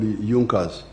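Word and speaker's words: Junker: was there was a group in Prussia called Junas. It is written junkas but they pronounce it as junas.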